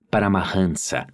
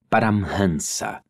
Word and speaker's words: Paramhansa: Em outras palavras, as pessoas falantes de língua portuguesa, ou muito provavelmente qualquer não-indiano médio, pronuncia assim esta palavra, Paramahansa. Entretanto, a pronúncia correta é Paramhansa.